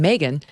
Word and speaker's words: Megyn: can text my name megan to three 65532 now that's spelled m-e-g-y-n my mom said it was like ob-gyn m-e-g-y-n text m-e-g-y-n to